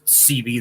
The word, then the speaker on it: Seabee: It's spelled like SEABEE, but it's CB.